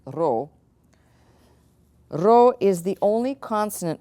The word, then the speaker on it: Rho: that looks like a P but it's actually pronounced role Rho is the only consonant which takes a